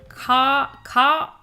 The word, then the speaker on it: Kian: Oh my god, feel ascension is no like Kian, pronounced like K-I-Yan. Ka-Ayan.